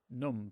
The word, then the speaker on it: numb: We are numb, but without the B, which amusingly is still pronounced numb.